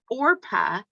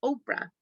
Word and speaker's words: Orpah: People constantly mispronounced her name as Oprah.